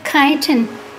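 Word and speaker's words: chitin: they have a vestigial shell inside made of kiten which is spelled c h i t i n often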